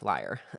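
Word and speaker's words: lyre: Um l y r e liar. Um is is it liar liar? I was always pronounced liar.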